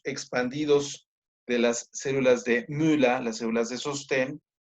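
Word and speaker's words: Müller: llaman células de mula se escribe m u la u con diéresis do l e r muer pero en alemán se dice mula eh bien pues aquí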